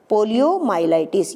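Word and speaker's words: poliomyelitis: Polio और पोलियोमाइलाइटिस, ये बच्चों को प्रोनाउंसिएशन में थोड़ी दिक्कत आती है। ये वर्ड है पोलियोमाइलाइटिस, यानी कि पोलियो का पूरा नाम पोलियोमाइलाइटिस है, ठीक है।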